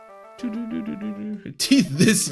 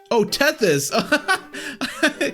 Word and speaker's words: Tethys: Teeth this, you casual. Oh, Tethys.